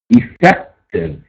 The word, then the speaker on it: effective: Effective, effective. Accent on the second syllable, we have an adjective.